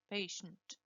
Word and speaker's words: patient: Fíjense que no es patient. There is no E here. Patient. Patient. These symbols tell you exactly what you have to pronounce. So if there is no E, you don't pronounce an E.